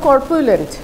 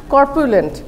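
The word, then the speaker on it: corpulent: ক্যাপ্রিশিয়াস আচ্ছা নাম্বার 22 22 তে আছে হলো কর্পোলেন্ট কর্পোলেন্ট এটার উচ্চারণটা দেখি হ্যাঁ করপিউলেন্ট আমি মানে আমি আমার উচ্চারণের সাথে সাথে প্রোনাউন্সিয়েশনের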